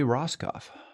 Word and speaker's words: Rosskopf: And then finally, Joey Roskoff. That's also correct pronunciation.